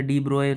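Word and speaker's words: de Broglie: एक साइंटिस्ट थे जिनका नाम था लुइस डी ब्रॉगली। ठीक है, लुइस डी ब्रॉगली या डी ब्रोए का प्रोनाउंसिएशन होता है।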